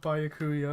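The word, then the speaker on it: Byakuya: Yeah, Ellie is obsessed with Bayakuya.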